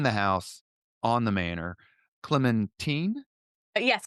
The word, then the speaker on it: Clementine: Clementine? yes, Clementine, you're absolutely right. That's the pronunciation.